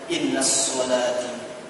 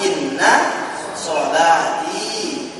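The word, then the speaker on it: إن صلاتي: Ketika dibacanya, innas sholati wa nusuki. Oh, udah salah itu. Tak bisa dia masuk tasydid kalau ada dhamir di belakang. Innas sholati. Tak bisa. Jadi gimana? Ya dipisahkan. Inna sholati wa nusuki wa mahyaya.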